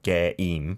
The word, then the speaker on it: 게임: Okay, it's two syllables in Korean though. 게임.